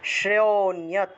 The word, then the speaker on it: श्रेयोऽन्यत्: ছয়ের নিচে রফলা থাকলে সেটা শ্রয়ের মতো উচ্চারণ হয়, শ্র, সেজন্য শ্রেয় উচ্চারণ করেছি, শ্রেয়োন্যত শ্রেয়োন্যত।